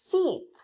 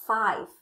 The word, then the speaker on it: fifth: Fifth. Fifth. Fifth. Ngày thứ năm. Lưu ý ngày thứ năm không đọc là five mà đọc là fifth.